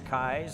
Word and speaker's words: Keys: Well, the fella at the table now is Patrick, and it's spelled Keys, I guess, but he likes Kais, so we'll go with Patrick Kais.